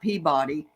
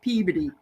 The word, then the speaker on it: Peabody: a Peabody Massachusetts but it's not Peabody it's Peabody that's how you say it so it's funny